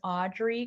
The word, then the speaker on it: Audree: i'm very strong on linkedin my name is audrey it's a very hard one but my first name is spelled with two e's it's a-u-d-r-e-e um anchor